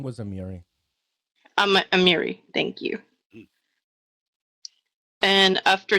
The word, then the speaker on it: Amiri: And he did also a wonderful job with uh Amari. Is that how would you say her name? Her name was Amiri.